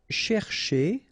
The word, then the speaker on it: chercher: it, because first, here, this first part, you've got to pronounce it cher, okay? But the second part, because it's ending with a R like that, so it should be e, so chez, okay?